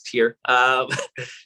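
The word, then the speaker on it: TYR: And thank you for pronouncing it the way we're supposed to, because I've been calling it tire my whole life.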